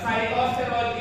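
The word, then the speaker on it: sitosterol: But cytosterol is easy. Ang sinasabi ko dyan, yung cytosterol, madali na tayo sa halaman. Tama ba? Kasi it rhymes with sitaw.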